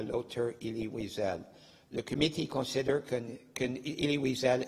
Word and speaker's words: Elie Wiesel: La prononciation de son nom est Elie Wiesel, mais en Amérique du Nord, il est connu seulement comme Elie Wiesel, plus facile pour beaucoup de personnes.